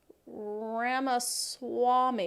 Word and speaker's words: Ramaswamy: in there uh oh two people told me that Mo said ramus ramaswamy not warmy okay I'm sorry on